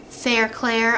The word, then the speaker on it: Claire: I used up the NYX concealer in Fair Claire. I always say that because it's the other language is Claire and it rhymes with fair.